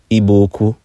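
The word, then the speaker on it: Igbo-Ukwu: artifacts in eastern Nigeria at a site called IBO uku properly pronounced ibuku and one of the artifacts was a distinct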